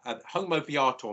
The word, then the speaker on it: homo viator: Lady wanted to know how do you say in Latin man on the path, homo viator. Homo viator, yes. So I can spell it.